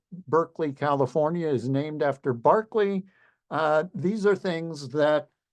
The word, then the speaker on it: Berkeley: know them for certain by the way Berkeley California is named after Barkley even though it's pronounced differently just to put you